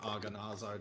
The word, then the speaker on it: Agonazar: I kind of like it, and I imagine the pronunciation is similar to Anwar, so it'd be like Agonazar, just like the whatever they call the long A's or whatever.